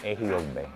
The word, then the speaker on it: Ejiogbe: El primer disco se llama Ejiogbe, pero se escribe como en el signo de Ifa, que parece como que 1, 1, 1, 1, signo de suma, 1, 1, 1, 1.